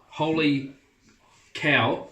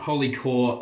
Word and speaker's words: Holy Cow: on a different level holy cow holy cow it's not holy core I asked shree over at holy cow and I've been saying it wrong the whole time it's a it's cows not caught so they're my top